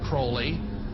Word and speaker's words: Crowley: have his name pronounced Crowley to rhyme with holy and uh the satanists